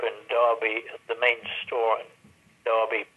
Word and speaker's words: Derby: a wonderful managership in Derby the main story darby pronounced Derby yeah yeah Brown Derby spell Derby yeah